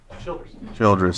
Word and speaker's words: Childress: Water Resources Director Pawan Upadhyay and Childress. Did I pronounce it right? Childress, sorry.